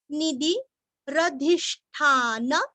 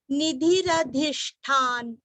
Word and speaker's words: निधिरधिष्ठान: निधि, नी और धी दोनों भी रस्व, निधि। रधिष्ठान आधा न, धीरस्व, ष्ठा का उच्चारण भी अच्छे से करना है और आधा न। निधिरधिष्ठान, निधिरधिष्ठान, निधिरधिष्ठान।